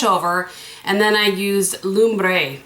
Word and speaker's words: Lumbre: Flipped the brush over and then I used Lumbre. That's how you say it. I looked it up. Lombre, which means fire in Spanish.